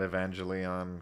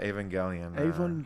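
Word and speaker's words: Evangelion: way yeah Neon Genesis I would call that evangelon forever until you know I met other nerds who like actually liked it oh actually it's pronounced it's uh avang gelan by the way and I was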